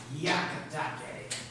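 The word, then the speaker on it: Hyakutake: a matter of pronunciation this japanese college student she told me to pronounce yakatake i have asked numerous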